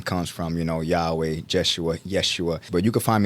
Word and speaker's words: Jeshua: my name be like hm how do you pronounce it so it's it's jesua but um my name means Jesus in in